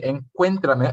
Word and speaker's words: encuéntrame: That's saying to meet me, encuéntrame, accent on the E.